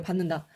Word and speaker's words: 받는다: 때문에 요거에 영향을 받아서 요렇게 받는다 니은으로 발음이 됩니다 비음화 현상이라고 보실 수가